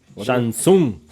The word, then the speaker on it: Shang Tsung: Shang Tsung. Shang Tsung. The T is silent.